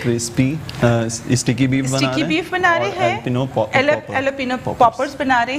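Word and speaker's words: jalapeño: अच्छा लोग इसे जैलापिनो पढ़ रहे थे, जे is silent, so इट्स एलापिनो poppers.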